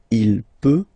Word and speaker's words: peut: then il, elle peut, so you will put T at the end, you don't pronounce it. Il peut, elle peut.